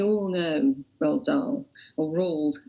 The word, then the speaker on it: Roald: We all know Roald Dahl, or Roald as she calls him, which is a Norwegian pronunciation.